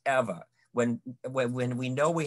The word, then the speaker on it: Ewa: ewa in hawaii and we pronounce the w's v so that's eva when when we know we have visitors here they said they came from iwa and then we say nope that's eva so there was an